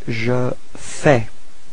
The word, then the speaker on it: fais: So first form for je, it's je fais. Okay, so final S is not pronounced. Je fais.